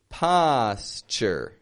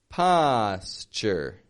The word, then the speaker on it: posture: Posture. Posture.